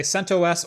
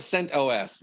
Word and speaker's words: CentOS: say it so i'm just gonna say centos or centos i don't care i i want sent os yeah so i think it depends on who first told you about it is how you pronounce it because i've heard both ways from people i respect very